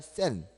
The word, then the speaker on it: 센: 센. 쌤이 아니라 센.